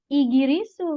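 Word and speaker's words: イギリス: Tapi orang Jepang menjadinya igirisu minasang seperti ini penulisannya. Tidak tidak Inggris, tidaklis tidak apa tapi igirisu. Iirisu seperti itu ya.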